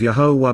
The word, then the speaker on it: Yahowah: Increasing and growing, being brought to meet the light, Kal imperfect active cohortative, 2, the mountain, of Yahowah, the proper pronunciation of Yahowah based upon his Torah, teaching regarding his higher